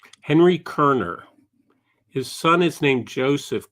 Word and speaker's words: Koerner: Is this a Kerner painting? Indeed. That's exactly. It's spelled Koerner. And he one of the